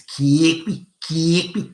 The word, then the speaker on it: Kirkby: When they pronounce the suburb of Kirkby, for example, it's Kirkby. It's like that.